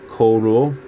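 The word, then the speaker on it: король: you have King in Russian that's how you pronounce it coal rule and that's a word King and Russian and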